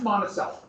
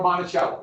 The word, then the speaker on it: Monticello: That's Monticello, or Monticello. It's pronounced both. I've seen it pronounced both.